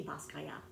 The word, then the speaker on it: Basquiat: The T, his father was Haitian and his mother was Puerto Rican, and so the last name is pronounced in the French way, so it's just like without the T, Basquiat, Jean Michel.